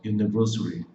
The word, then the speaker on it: university: Na fonética, esse som do U, você vai ver um J com um U aqui, ó. U, U, J-U, U. Então, J-U é o som do U, igual o U de você. Tá vendo esse tipo um apóstrofo que tem antes aqui do J? Quer dizer que o acento da palavra, a parte mais forte está na primeira sílaba.